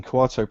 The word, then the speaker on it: Kuato: and um also very well done on getting quato pronounced for the entire show correctly well you know